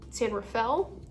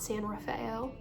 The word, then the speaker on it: San Rafael: And this is in San Rafale, California, not San Raphael as my roommate from Oklahoma likes to pronounce it.